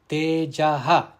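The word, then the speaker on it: तेजः: Now in the first pada, that is Tejaha, the visarga, it is followed by the letter ksha, kshama. Therefore, the visarga must be pronounced. Tejaha kshama dhrutish shaucham. Dhrutihi, the visarga here, it is appearing within the quarter, so it should not be pronounced.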